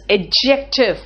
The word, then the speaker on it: adjective: What is adjective? First tell me what is adjective. You don't say adjective. Adjective, this D is silent here.